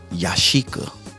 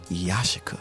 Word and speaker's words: Yashica: joshua lenses now a lot of people say yashika but it's pronounced yashika reference the old school jingle you are